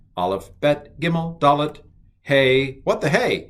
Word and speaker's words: Hey: All right, Aleph, Bet, Gimel, Dalet, Hey. What the hey? It's a hey. This is a hey. It's an H, and it's pronounced huh.